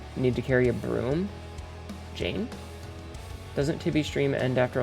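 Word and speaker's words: Jain: Jane Janes pronounced Jane sweep in front of them to prevent themselves from accidentally stepping on animals.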